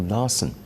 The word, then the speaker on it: Larson: Well, the suspect was identified as 48-year-old Peter Michael Larson. He was treated for injuries sustained during the restraint. And Larson rhymes with arson, and arson is a national pastime for Israelis.